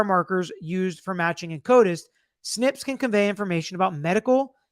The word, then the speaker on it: SNP: called single nucleotide polymorphisms SNP pronounced snip the direct to Consumer